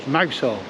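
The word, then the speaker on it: Mousehole: Now it's actually called Mousel. And a lot of people know it as that, but it's pronounced down here mousel on account of the little hole here, which I'll show you.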